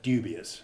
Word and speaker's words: dubious: agitated adjutants dubious objections we put in the word dubious to remind ourselves not to make the mistake of pronouncing that d as though it would j keep the d1 sound unadulterated in all such words and don't let a word like do sound like jew now you tell us